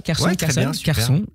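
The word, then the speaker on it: Kherson: histoire biggers and life celle d'un homme erriic Kerson prononce comme ça Kerson la quarantaine triste encore trop jeune pour être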